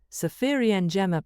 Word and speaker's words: Safiri Njema: Safiri Njema (pronounced Sah-fee-ri Nye-mah) means "have a good trip" in Swahili.